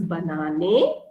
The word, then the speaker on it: Banane: be in capital so banana in german is pronounced as banane or when you speak fast it becomes banana okay so ish banana so